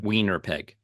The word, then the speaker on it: Winnipeg: We're in Guntur and Indore, and then we're in Canada, in Toronto and Winnipeg, as the locals say. Wiener peg.